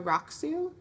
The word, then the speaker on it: Rakusu: So this is a raksu. It's spelled Rakusu.